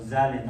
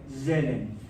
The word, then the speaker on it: Zahlen: Zellen o Zahlen, algo así, se pronuncia medio raro. No es ni A ni E, una cosa intermedia. Zelen.